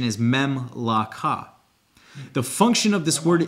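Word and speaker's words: ממלכה: The definition of the word in Hebrew Strong's Concordance 4467 is Memlaka, and it is, the pronunciation is Memlaka.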